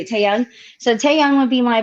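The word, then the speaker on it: Taehyung: how you say it, Taeyoung.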